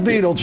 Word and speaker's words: Betelgeuse: see when, is it Betelgeuse goes? Beetlejuice. Not Beetlejuice. No, it is. It is Beetlejuice. Yeah, it's literally how you say that.